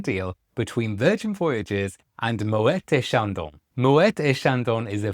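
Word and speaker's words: Moët: thinking that I'm pronouncing Moet wrong. I have checked this on the Moeta Shandon website and I can confirm that the T is pronounced with a hard T. And that's because the name Moette is actually Dutch.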